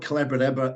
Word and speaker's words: Collabradabra: And if they want Collabradabra, it rhymes with abracadabra because it's magic, the Yeah, magic of collaborative conversations.